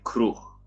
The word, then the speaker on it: kroeg: Pisze się kroeg, czyta się kruch.